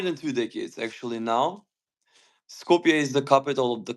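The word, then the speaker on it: Skopje: Uh, talk about your town and tell me if I'm pronouncing it right, scope. It's Scopier almost. Scopia. Scopia. Yeah, Scopia.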